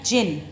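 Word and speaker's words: djinn: दीजै आए double and और इसकी प्रनंसीएशन है जिन यह डिश साइलेंट है कौन जिन बोलेंगे जिंकून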